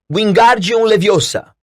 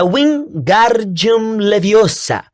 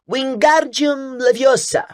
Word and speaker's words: Wingardium Leviosa: Você está dizendo feitiço errado. Harry ouviu Hermione corrigir aborrecida. É Wingardium Leviosa. O gar é bem pronunciado e longo.